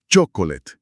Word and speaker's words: chocolate: Chocolate, import. hacerlo físico. Sí, una técnica era escribir la palabra, tachar las letras mudas como esa o de chocolate que casi no suena, identificar la sílaba tónica